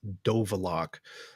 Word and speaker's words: Dovalok: name for us and my Americanized Ukrainian last name is dovalok uh not at all how people in the Ukraine pronounce it apparently but that's uh